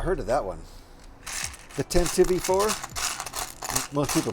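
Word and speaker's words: Tantive IV: This time, we are using the Tantivy 4 set, and I can't find my piece. Oh, really? I have not heard of that one. The Tantivy 4?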